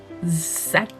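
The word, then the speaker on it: Szac: L'auteur, c'est Muriel Zac. Ça s'écrit S-Z-A-C.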